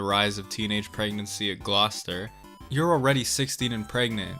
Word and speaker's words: Gloucester: Look at this word and tell me I'm dumb for pronouncing it Gloucester. Apparently it's Gloucester. Okay, moving on.